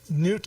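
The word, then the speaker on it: Knut: uh it's it's in newt k i don't know if it's pronounced right it's k-n-u-t it's first first name first name really you put the k in your k's are not silent and and no they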